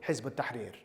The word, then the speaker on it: Hizb ut-Tahrir: And that was the ideological Islamist conversation that led to me joining Hizb ut-Tahrir. That's how you pronounce it.